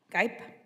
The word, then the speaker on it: Gipe: Gipe? Oh, see, I was going to say Gippy. I'm really glad you corrected me.